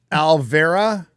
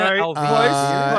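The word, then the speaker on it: Alvere: Egwene Alvera. Egwene Alvera. Egwene. Edwina Alvira. Close. It's supposed to be Egwene Alvir.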